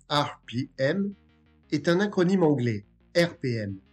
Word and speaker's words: ARPIEM: RPM, qui se prononce RPM, est un acronyme anglais, RPM, qui signifie Revolution per Minute ou Run per Minute, soit tour par minute.